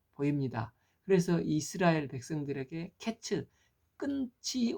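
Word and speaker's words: קץ: 생각하기 쉽지 않습니까 그런데 과일이 히브리어로는 케이츠라는 말인데 내 백성의 끝이 이르렀다 이르렀다 끝이 이르렀다는 것은 캣츠라고 말을 한다고 합니다 그래서 케이츠 캣츠 발음이 비슷한 워드 플레이를 하고 있습니다 그러니까 드러날 말은 여름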